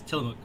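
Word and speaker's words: Tillamook: a Native American word the way we always say it is tilamook uh but if you look at it it's spelled like til Muk kind of you know so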